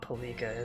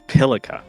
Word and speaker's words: Pilika: It's not Palika, is it? It's not Palika like that. The emphasis is not on the second syllable of the name. It's on the first. Her name is Pilika.